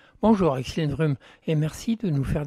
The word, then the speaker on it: Axildrum: Et donc ça s'écrit A-X-I-L-D-R-U-M. Vous pouvez répéter ? A-X-I-L-D-R-U-M, Axel Drum, ouais.